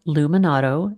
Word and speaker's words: Luminato: So, I should say the festival is called Luminado. L U M I N A T O and the podcast is